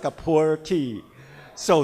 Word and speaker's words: Pu'er: it is coming up in typical Chinese pronunciation Mandarin pronunciation it's called poor tea but with your typical